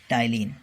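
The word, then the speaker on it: ptyalin: पहले इसको टाइलिन कहा जाता था, टाइलिन, है ना। टी इसमें साइलेंट रहता है, पी जो है इसमें साइलेंट रहता है, ठीक है, टाइलिन कहते हैं।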